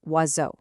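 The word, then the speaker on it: oiseau: In French, vowels love to form these little teams that create one single new sound. A perfect example is wazo, the word for bird.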